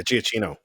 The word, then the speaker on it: Giacchino: Yeah, Giacchino.